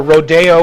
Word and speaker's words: Rodeo: Rodeo or Rodeo as they pronounced it.